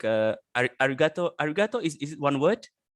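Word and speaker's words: arigatō: So you need to stress I don't know, maybe gato, right? Ari, you don't really put stress there.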